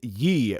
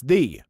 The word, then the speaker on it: ye: There's no such thing as ye, meaning thee. It's thee, but spelled with an archaic letter that signifies the TH sound.